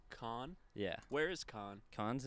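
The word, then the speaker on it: Cannes: I mean yeah where where is so it's pronounced con yeah where is KH con's in France the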